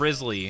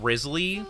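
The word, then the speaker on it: Wriothesley: Spicy, just pull up pictures of Risley from Genshin, and then you'll be good, right?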